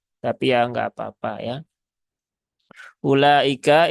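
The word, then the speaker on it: أولئك: ya enggak apa-apa ya ulaika ini u-nya tidak dibaca jadi ini bukan ulaika tetapi ulaika ya dia e wunya dibaca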